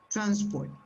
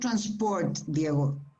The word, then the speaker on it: transport: the same transport yeah transport transport transport yeah it's not transport that sounds like french in a way transport transport transport you see the the apostrophe is before t okay the verb is